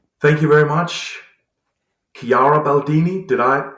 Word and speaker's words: Chiara Baldini: Thank you very much, Chiara Baldini. Did I pronounce that right?